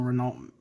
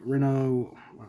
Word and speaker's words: Renault: And uh I basically did the a metallic version of the Renault. I call it Renault. It's think I think it's actually pronounced Renault. Um why they would put a L in there.